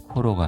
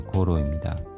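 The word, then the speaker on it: ごろ: 고로는 경입니다. 코로가 아니라 고로입니다. 나구야씨 시름입니다.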